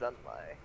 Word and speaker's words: Xunlai: No, X's are pronounced with Z's. It's Xunlai.